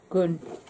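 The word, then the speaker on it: gant: who's contributed to, and Gan, which is the Haitian word for glove, although there's no equivalent to the nasal and sound in English. The best way to pronounce the word is gun.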